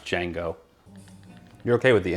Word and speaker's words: Django: into it django unchained django or djing it's pronounced django you're okay with the n word right that's